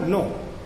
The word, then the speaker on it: know: अंग्रेजी में जैसे कनो शब्द है, कनो KNOW, कनो का उच्चारण नो, कनाइफ का KNIFE का नाइफ, तथा टाल्क TALK टाल्क का टाक भी इसका परिणाम है।